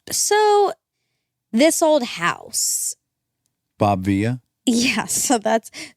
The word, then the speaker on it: Vila: Bob Vila? Yeah, so it's Bob Vila. Well, is it? Yeah, it is. I looked it up, and it's spelled with one L.